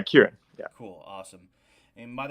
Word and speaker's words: Kiran: So, and your name is pronounced Kieran. yeah, Kieran.